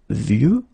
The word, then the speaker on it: vieux: And the last one is vieux, old, un vieux arbre. Okay, of course you've got this X at the end, but you don't pronounce it.